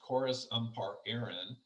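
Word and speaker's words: Córas Iompair Éireann: it's actually an irish gaelic acronym and it's pronounced chorus um part aaron and what that translates to is irish transport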